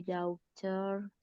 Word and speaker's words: daughter: And then I take my daughter. take my daughter, bukan my daughter. GH-nya nggak dibaca, Kak.